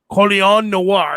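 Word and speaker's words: Colion Noir: How do you say his name? It's Coleon. Coleon Noir, and that's not his actual name.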